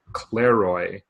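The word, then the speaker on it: κλῆροι: what it is but a lots in Greek is clear Roy yeah I think I'm pronouncing it right like Clara like que le roi or something like that and I think that's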